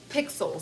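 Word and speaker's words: Pikzel: It is called Pixel. So, it's but it's spelled kind of weird. P I K Z E L.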